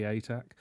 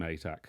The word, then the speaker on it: Atack: call a daily life, people are pronouncing my surname right, rather than X Attack, rather than which as I imagine an you've had X-wing many attack times.